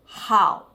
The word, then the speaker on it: 好: Hao, hao. Qui notiamo anche che l'H in cinese va pronunciata, si dice hao.